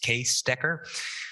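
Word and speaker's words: Cees Dekker: and i found out today that it's actually pronounced case decker so he moved to the decker lab where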